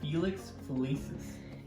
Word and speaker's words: Felix Felicis: our philippe phil how do you say that felix felicis yeah what he said and then um we